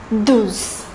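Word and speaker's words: douze: pronunciation carefully it is the number 12 is pronounced as deus deus the number 30 is pronounced tres tres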